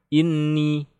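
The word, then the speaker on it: إِنِّي: Inni yang tidak ditahan salah. Inni laylan wa nahara salah, yang benar ditahan.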